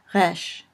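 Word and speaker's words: ריש: Finally, resh, which is like our R, only for Hebrew speakers, it's really a little bit more like a French R, kind of spoken in the back of the throat. Resh.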